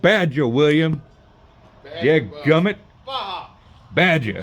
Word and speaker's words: Baja: So, no, it's called Baja, William. Yeah, gummit. Baja. Baja. J is pronounced with an H.